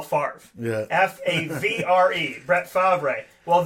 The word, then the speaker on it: Favre: Well, this, folks, is how you say it. There you go. There's Brett Favre, F-A-R-V-E, right? It's the Italian. That's the thing with like Italian stuff. You don't write it how it's spelled, right?